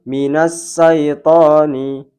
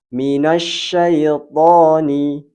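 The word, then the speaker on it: مِنَ الشَّيْطَانِ: Contohnya minas syaitani, minas syaitani. Padahal yang benar adalah huruf shin, yaitu suara menggema di rongga mulut. Kita contohkan yang benar. Minasyaitani, minasyaitani.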